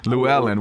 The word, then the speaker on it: Llewellyn: I've always called it Llewellyn for years. I've been reading their books since I was 13 years old. Llewellyn. Wow, the correct pronunciation.